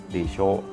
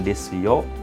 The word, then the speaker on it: でしょう: Desho. Mungkin jangan salah pengucapan ya, bukan desyo tapi desho.